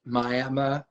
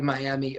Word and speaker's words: Miami: They pronounce it, how I sigh at that, but they pronounce it Miami, but it's actually Miami, Oklahoma.